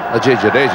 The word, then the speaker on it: Ajay Jadeja: Is that how you pronounce him? Ajay Jadeja, yeah, you did it very well, Blur.